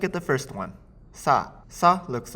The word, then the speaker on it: さ: weird curvy sign now the pronunciation of sign at least the sa part of sign is similar to sa even though it's spell with s I in English so use this pronunciation the sa in sign to remember that this is sa the next cona is